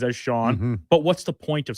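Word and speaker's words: Xienne: or something, I suppose it does come out pronunciation-wise as Sean.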